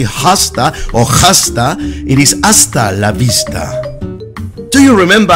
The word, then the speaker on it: hasta la vista: It's important to remember that the H is silent in Spanish, so don't say hasta or hasta, it is hasta la vista.